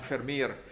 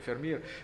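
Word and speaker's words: Vermeer: la storia di jan fermer der meer degli italiani ma si pronuncia fermi nel 2006 e nitida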